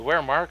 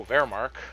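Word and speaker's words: Wehrmacht: The weremark needs to uh oh vermark uh that's right it's pronounced with a v uh needs to cross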